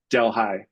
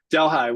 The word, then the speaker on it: Delhi: Delhigh New York. Delhigh. One of the great American mispronunciations of another cultures words.